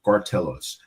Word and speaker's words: Gartelos: With me today, a special guest is Cartellos. did I pronounce that last name correct?